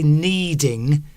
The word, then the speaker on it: kneading: By the way, can I just say kneading, as in that type of kneading, is it's spelled K-N E-D-I-N-G. If you need something, it means you need something. Say, you need a car to go from one town to another. But kneading, the action of kneading is spelled K-N. Somebody's put N-E-E-D. It's the same, sounds the same.